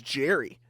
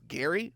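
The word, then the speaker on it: Gerry: I'm like, who is Jerry? Who is Jerry Bohannon? I'm like, oh, it's Gary? Why does he spell it like that?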